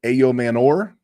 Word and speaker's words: Ayomanor: a wide receiver, and it's Alec Ayomanor. That's how he pronounced it. That's how I'm going to pronounce it.